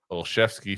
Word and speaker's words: Olszewski: And Deb says, Polish language Z becomes sh, and W is spelled F. Thus, Olszewski becomes Olszewski phonetically.